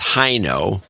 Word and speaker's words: Hoyno: Hoyno in Salem, Oregon. Hino, it should be pronounced Hino, although I can't see any way of getting there from here.